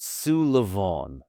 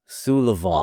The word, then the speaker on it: Súilleabháin: My family name is the Gaelic version of Sullivan, which is quite a common Irish name. That's So it's easy. pronounced Súilleabháin. Súilleabháin.